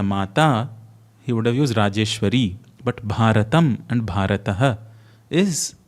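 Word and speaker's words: राजेश्वरी: The feminine, if it's for Bharat Mata, it should have been Rajeshwari, but it says Rajeshwara because the Rajeshwara is for Bharat. If he used Bharati, Bharata Mata, he would have used Rajeshwari.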